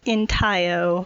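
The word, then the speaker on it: intaglio: called and what is it so it's called entire which is spelled i-n-t-a-g-l-i-o so like for the first 450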